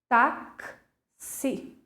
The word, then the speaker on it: táxi: Mas, quando eu vou pronunciar a palavra, eu vou ter mais sons. Eu vou ter 5 fonemas. Por quê? Gente, falem comigo a palavrinha bem devagar. Táxi.